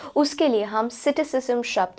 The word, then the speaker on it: psittacism: word of द day cities जम seat सिस्म इसे इस तरह से प्रोनाउंस किया जाता है सिटस जम का अर्थ